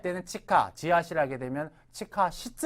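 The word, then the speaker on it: 地下: 문제에 잘 나옵니다 그래서 아 지하 할 때는 치카 지하실 하게 되면 치하 시즈 아닙니까 뭐 지하철면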